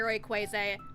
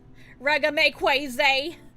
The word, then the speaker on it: Rayquaza: the order, and he had bought the Mega Rayquaza. I keep saying it wrong. Mega Rayquaza EX. November 2nd of last year. Guys, it is July 18th. That was more than 8 months ago. Rayquaza.